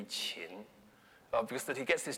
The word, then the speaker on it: Qin: It should probably be Qin, because that he gets